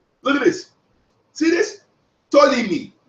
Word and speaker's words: Ptolemy: Ptolemy. T. Ptolemy. The P is silent.